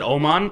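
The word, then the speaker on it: Nils Åman: Nils Aman. Yeah. Ammon, how you pronounce it? They pronounce it Oman. And I think it's how you would pronounce it in like Swedish or whatever.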